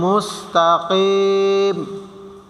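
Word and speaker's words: مستقيم: উচ্চারণ পড়বো এখানে আছে মুস্তাকিম কফ কফ গলার ভিতর দিয়ে হবে মুস্তাকিম মিম পেশ মুর্বো সিনের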